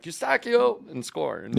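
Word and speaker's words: Eustáquio: And it's not Kobe in this country. No. Eustachio! Yeah. And why not? And we'll go through it more tomorrow. We're the only country that knows how to pronounce the kid's name properly.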